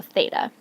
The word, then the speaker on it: theta: of the alphabet theta you say th and then eight and then uh so theta it's important to know